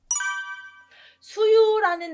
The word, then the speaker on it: 수유: 수유라는 나무가 있는데 아시죠? 가을에 이렇게 수유가 예쁘게 열리는데요. 수유 나무에서 주 발음이 수가 된 것 같아요. 그래서 조금 한자 안다고 하면서 이걸 주 발음하면 틀릴 것 같습니다.